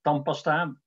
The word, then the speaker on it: tandpasta: Het woord tandpasta, wat we keurig schrijven met dt, wordt natuurlijk doorgaans niet zo uitgesproken, maar met als tandpasta, prachtige regelmaat. Eerst wordt die D, wordt een, aan het eind van de eerste lettergreep wordt een T, maar een T in een cluster van medeklinkers verdwijnt, en dan staat de N voor de P, en dan wordt de N door assimilatie van stem en M.